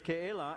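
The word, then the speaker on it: Keilah: that is actually helping me to learn to pronounce these names you know i just as soon call it kayla and get away with it but the name is ke la and it the the word literally means citadel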